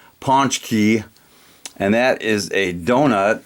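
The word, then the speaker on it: pączki: To Us by uh if you can't pronounce that it's a Polish word it's Ponch key and that is a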